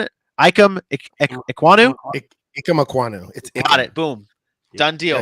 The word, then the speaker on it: Ikem Ekwonu: How are we pronouncing it? Ikem Ekwonu? Ikem Ekwonu.